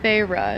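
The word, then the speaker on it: Feyre: characters names as well feyra is her name okay so that's actually how you pronounce it pharah's just chilling she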